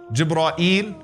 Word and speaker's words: Jibreel: How can you say the name of Jibreel alayhi salam? What are some of the ways to pronounce his name? Jibreel, Jibra'il, Jibra'il, Jibra'il, Jibreel. Those are five ways that have been narrated through the various qira'at.